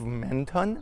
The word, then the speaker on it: Menton: Hey, I am in a city called, I believe, Menton, or maybe in French, like they don't pronounce the last, so it's Mento.